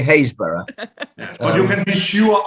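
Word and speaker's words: Happisburgh: near a place called it's spelt happensberg but in english we say haysborough but you can be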